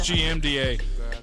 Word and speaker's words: GMDA: I love Ending the GDMA. show Right now on the fucking snap. You said it wrong. It's GMDA.